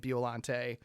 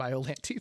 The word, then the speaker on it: Biollante: So, I I probably am going to purposely intentionally shift to saying Bolante. Um, even though in my head and probably my heart she's always going to be biolante to me, but also who the